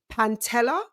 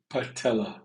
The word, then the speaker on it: patella: suffered an season ending Pantella. Did I say it right? Patella. There's no N in Patella.